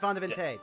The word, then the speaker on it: Vandeville: It's pronounced Vandevinte.